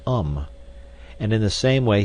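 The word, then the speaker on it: homme: bark he learned from darno that it was pronounced um and in the same way he was taught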